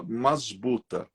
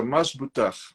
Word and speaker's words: masbuta: Aportuguesadamente, a gente fala masbuta, mas a pronúncia é masbutar, que é o batismo mandiano.